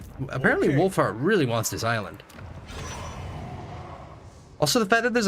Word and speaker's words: isla: In Spanish, the word Isa is pronounced e Isla with a sharp e sounds like easy. Isla like Isla. Like so it's like Isla Isla de Estreon.